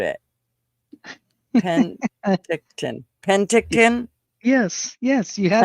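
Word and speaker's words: Penticton: And then I just butchered it. Pentictton.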